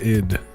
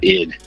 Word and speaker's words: Id: What is the House of Id? Is it id or is it ID? It's id. You were like one of the few people that like from right off the bat said it right. It's id.